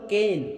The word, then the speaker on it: Cain: সে ছিল মেশফাল আর কাবিল শব্দটির হিব্রু উচ্চারণ হলো কেন সি এ আই এন কেন কেন সে ছিল কৃষক তাহলে